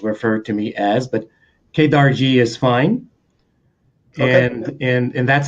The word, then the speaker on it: Kedarji: devotees and disciples refer to me as but kadar G is fine and and that's how you pronounce it leaders you that I got it